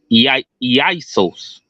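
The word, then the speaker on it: Ἰησοῦς: However, this is a transliteration of the Greek word Strong's G2424, Isos, pronounced Isos.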